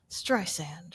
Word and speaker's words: Streisand: She makes it clear to tell you that's how you pronounce her name. Streisand, right?